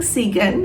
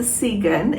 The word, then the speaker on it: Sigyn: cruise we went on the Viking Sean is the way they pronounce it si g yn. If you watched any of my videos leading up to our trip, I wasn't sure how. So, it's the Segan is the way they pronounce that.